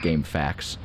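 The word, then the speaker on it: GameFAQs: I think it's supposed to be pronounced game facts, like, because it's like facts, like FACTS, but like FAQS. It's a pun.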